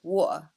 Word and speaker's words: water: okay which means that we don't really say the T sound so water becomes water oh okay oh yeah